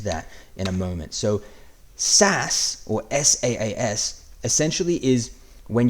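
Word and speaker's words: SaaS: in 3 2 1 the answer is s a a s or as it's pronounced SAS so SAS first of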